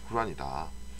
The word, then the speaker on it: 꾸란: 꾸란. 코란이라고도 하고 꾸란이라고 하는데 원래 발음은 꾸란에 더 가깝다 그래요.